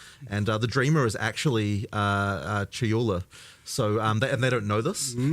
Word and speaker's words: Chayula: So the acolyte of, I always get this name wrong. The acolyte of is it Chalula? Chayula.